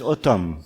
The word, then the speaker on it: Etam: So, the next stopover is Etam. Aleph, Tav, Mem. Aleph, Tav, Mem. It can also be pronounced as Otam, same three consonants, which means their sign.